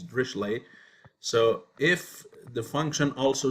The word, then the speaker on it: Dirichlet: drischleigh conditions or so you might call it richlet but the actual pronunciation is drishlay so if the function